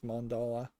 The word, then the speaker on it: mandala: Although I would be very distracted just looking at the mandala. I think it's mandala. That's how you pronounce it.